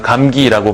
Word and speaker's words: 감기: 그러니까 여기서 보면은 감기라고 발음을 할 때 뒤에 있는 기역은 유음화된 기역이죠.